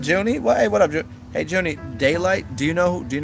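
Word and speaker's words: Daylyt: out of control daylight you can't spell it d-a-y-l-i-g-h-t it's like delight but daylight yeah yeah yeah yeah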